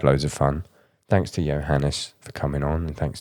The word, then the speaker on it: Johannes: every time i interview someone i get their name wrong so johannes yeah correct yes right that's absolutely fine no